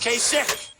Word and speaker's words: Kasich: Pronounce his name Kasich. It's I-C-H. Every time I see it, I say Kasich, but it's pronounced Kasich.